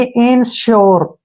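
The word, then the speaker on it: ensure: आर ई यहां पर ई एन का जो उच्चारण है वो इन के रूप में ही होगा इन ठीक है ना एस यू आर ई इसको हम श्यर पढ़ेंगे क्या पढ़ेंगे श्यर यानी कि इन श्योर ठीक है ना इन श्यर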